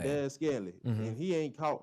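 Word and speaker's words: Valdes-Scantling: Valdez Scantling. That's how you say his name. Valdez Scantling.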